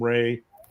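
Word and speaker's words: Rahe: 1967 it's called the homes and Ray Ray is spelled r ah it's called the homes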